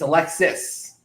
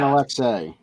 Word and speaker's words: Alexis: It's Alexis. Everybody I know that. Alexei. He's not Russian. He's French Canadian. You don't pronounce the S in French.